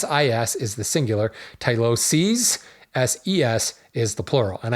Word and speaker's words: tyloses: called on my pronunciation tylosis is the plural here or excuse me tylosis s i is the singular tyloses SES is the plural